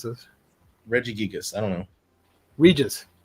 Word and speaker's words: Regis: Regigigas I don't know Regis like Regis Philbin yes Immortal Regis volume one